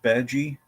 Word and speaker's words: Bad Guy: Yep, it's pronounced Badgie. It's French. Yeah.